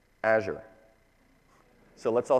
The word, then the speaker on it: Azure: It's Azure. So let's all say that together. Azure. Like, as you're going to the store, think about the cloud.